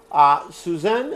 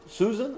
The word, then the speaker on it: Suzanne: Some people pronounce it Susan, other people pronounce it Suzanne. The spelling will vary. But this is Suzanne over here, because the last word is what? And.